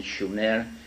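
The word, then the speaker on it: Shumer: Su in in in the correct spelling and pronunciation Schumer which meant land of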